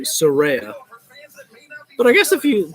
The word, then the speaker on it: Saraya: was against him yeah you gotta have to pause a little bit you know when you're trying to pronounce surreya's name because if we're so used to saying Soraya so it's gonna take a little bit get used to saying surreya but I guess if